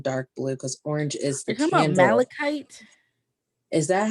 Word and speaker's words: malachite: have orange and dark blue because orange is malachite is that how you say it yeah it's